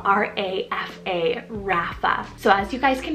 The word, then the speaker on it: Rafa: a feminine version of a boy's name is Rafa spell r-a-f-a Rapha so as you guys can hear that it